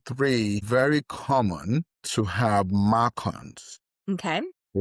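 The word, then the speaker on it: MARCoNS: Number three, very common to have macons. Okay. Spell that for us. It's Mark. M A R C O N S.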